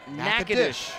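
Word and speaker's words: Natchitoches: Northwestern State that is pronounced Nacades, Louisiana and famous alum.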